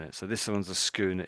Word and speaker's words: schooner: So schooner, it's a type of boat. You remember there was the other one you had brigatine. Briotine, wasn't it? So this one's a schooner.